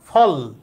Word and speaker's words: ফল: এরকম আমরা ফল বলি, তার মানে এখানে লয় শেষে অ এর উচ্চারণ নাই, ফল, থেমে যাইতেছি।